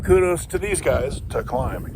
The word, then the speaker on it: KLIM: It is I don't know, probably 35, and gotta give kudos to these guys to Climb, K-L-I-M, and it's pronounced Climb, not Klim.